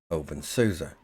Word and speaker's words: openSUSE: distribution officially renamed to open soua as it is pro pronounced similarly to open source until version 13 stable